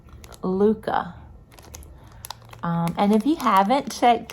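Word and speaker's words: Lykke: And these are I thought they were Likey, but I believe it was Kimberly, Knit for Brains, said they're pronounced Luca.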